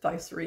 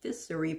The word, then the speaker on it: Ficery: started saying by syria i thought it was pronounced viceri apparently it's pronounced fissuri for his sister who has the same last